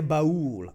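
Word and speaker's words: Ba'ul: Is that pronounced Bahul or Ball? Oh, yeah. Bahul.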